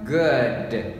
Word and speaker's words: good: các bạn đọc lại, các bạn đọc là cái âm short u, đọc là ua, chúng ta đọc là good, good, đúng chưa? Good, rất là dễ nhá, các bạn cứ đọc theo tôi.